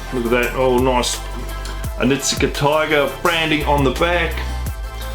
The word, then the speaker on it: Onitsuka: And then we have a Onitsuka Tiger. That's how I'm going to say it. Hopefully I'm pronouncing it right. Any of my Japanese subscribers, can you rate me down below how I pronounce Onitsuka Tiger.